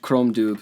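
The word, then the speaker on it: Crom Dubh: comes out chrome Chrome it's CR om space Dubh chrome dude yeah and I was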